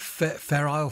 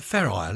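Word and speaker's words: Fair Isle: country I remember hearing something about is it feral feral jumpers from up North you file fer ale wool how do you say it Jo forgot a fair ale isn't it you the jumpers that fishermen wear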